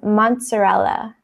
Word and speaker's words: mozzarella: This is actually an Italian word. So you kind of say it like pizza. Those two Z's kind of have like a T sound. It's mozzarella.